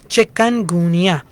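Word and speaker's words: Chikungunya: इसका चिकन से कोई ताल्लुक नहीं है इसकी स्पेलिंग है सी एच आई के यू एन चिकन गुनिया viral infection है जिस तरह डेंगी वायरल इंफेक्शन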